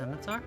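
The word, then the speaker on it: scimitar: skill ooh a skar I think it's pronounced simitar a skar are you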